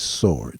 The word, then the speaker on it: sword: The word is sword. The W is silent.